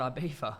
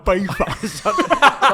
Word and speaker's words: Ibiza: some weird bar in Ibiza. So did I. Why do you pronounce like it's so horrible? Ibiza.